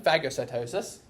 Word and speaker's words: phagocytosis: little vesicle a little bubble the other one fagocitosis we are going to be eating large particles yes that is how it's pronounced so in phagocytosis we are it's going to be considered cell